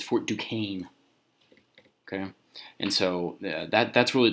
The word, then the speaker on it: Fort Duquesne: It's pronounced Fort Duquesne. Okay, I know it looks like Fort Duquesne. Okay, but it's Fort Duquesne.